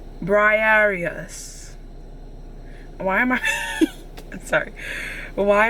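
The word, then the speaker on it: Briareus: Okay, pronunciation. Briarius.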